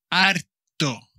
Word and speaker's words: harto: vamos a decir estoy harto harto con h y como sabéis la h en español nunca nunca nunca se pronuncia pero se escribe o sea enferma estoy